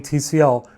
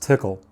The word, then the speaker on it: Tcl: noticed i keep saying tcl when all of you know it's pronounced tickle well a marketing woman